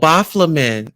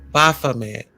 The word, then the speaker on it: Baphomet: Oh, Baflamin. Is it? Am I saying it right? Baflamin? Bafa. Baphomet. Baphomet. Yeah, child.